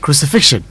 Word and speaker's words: crucifixion: There's a k there. Crucifixion. Yes. Right, Crucifixion. yeah. But I know that in a haste to pronounce, we normally would just say crucifixion, but it's crucifixion. Okay. Okay. And that is how you say it right.